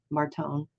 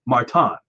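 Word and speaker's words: Márton: say his first name Martone no you're wrong Martin it's uh well maybe in English I mean maybe if you're here it's Martin all right his last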